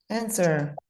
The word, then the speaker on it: answer: shouldn't pronounce W. Exactly. We need to take the W out. Oops. What happened there? I lost my color. It sounds like this, everybody. Answer.